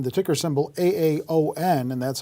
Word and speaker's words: AAON: that you want to profile for us is pronounced Aon the ticker symbol a AO n and that's how the company's name is spelled